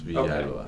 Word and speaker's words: Villalba: Yes, Villalba.